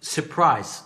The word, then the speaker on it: surprise: Surprise. طبعا دي عارفينها بس انا اخترتها عشان احنا بنقول surprise، وانا قلت قبل كده ما تنطق ما بلاش ننطق ال R الاولانيه.